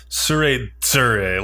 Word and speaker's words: Tsuredure: Yeah, I guess the D, like, so it's sometimes spelled with a D, sometimes spelled with a Z. I guess it's supposed to be pronounced like Tsuredure, like a hard DZ sound.